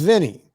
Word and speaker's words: Vinni: And I've even said, if it's a girl, it should be like a girl name like Vinni, right? Pronounced Vinny, right?